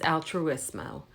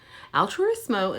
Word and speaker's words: Altruissimo: So the first one that we're going to learn is Altruissimo. Altruissimo is a little bit hard to say. I have a hard time saying it. It has 4 syllables.